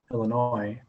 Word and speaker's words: Illinois: thomas and western illinois the s is silent illinois um again good teams